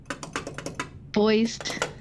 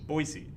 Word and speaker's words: Boise: have been like whoa sorry for getting your name wrong for half a year boys yeah i'm still not gonna say that word online or i'll keep saying it wrong boise boy boy not boys boise noisy i just did it anyways boy i